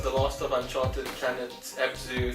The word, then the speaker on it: Abzu: That Abzu, am I saying it right? Abzu.